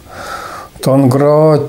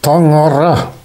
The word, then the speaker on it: Tangra: Tangra, Tengri, Tengeri, Tanri, etc. On prononce ce mot en yakoute Tangara. Tangara.